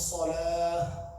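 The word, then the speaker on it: صلاة: Salah, the two dots are here, the ha round, the. That becomes a ha, so it's salah, salah, like a deep ending. So it starts with the soft ha, finishes with the deep ha.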